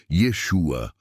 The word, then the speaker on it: Yeshua: siga o verdadeiro profeta Jesus ou na pronúncia Hebraica Yeshua ou yaa e não